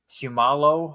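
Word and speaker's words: Seumalo: offensive line getting uh Isaac shumalo I believe is how you say that name and Nate her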